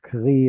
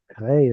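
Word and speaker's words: קרי: This is a matter of kativ kre, or kri or kre, or kre is how I pronounce it, whatever.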